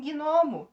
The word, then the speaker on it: gnomo: O mesmo acontece com gnomo. G mudo, sem vogal, vai para a sílaba seguinte, tá?